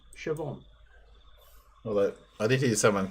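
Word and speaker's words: Siobhan: h n Sound about it looks like Coan pronounced Shon although I did hear someone complaining about school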